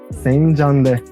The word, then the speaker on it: Senjande: ¿Y cómo se dice gracias en Kogi? Senyarde. Senjande. Senjande. There you go. That's how you say thank you in Kogi.